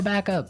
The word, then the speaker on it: backup: important hey yes yes you have to say backup Backup backup yeah so both words are stressed at about the same level hey mhm backup cuz